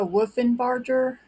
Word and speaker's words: Wolfenbarger: This is Kathleen, and today's video is going to be about Melissa Wolfenbarger. I believe that's how you pronounce the last name. It's Wolfenbarger, Wolfenbarger or Barker.